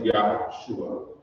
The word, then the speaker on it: Yahshua: And the next part of his name, which is pronounced Shua, in Hebrew theology, it means salvation. So his name is Yahshua.